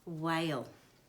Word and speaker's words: whale: Okay, whale. And H is a silent letter, and as we learned before, H is a silent letter, often goes after W.